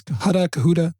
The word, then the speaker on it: Cohutta: Cohutta Mayor Ron Shinnick. I might be pronouncing that wrong. It's Cohutta. I'm sorry.